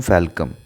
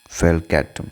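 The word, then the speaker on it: falcatum: रेड रॉट of sugar cane ये करता है कॉल्चिट्रिकम फैल्कम। कॉल्चिट्रिकम फैल्कैटम, सॉरी फैल्कम नहीं, फैल्कैटम, ठीक है।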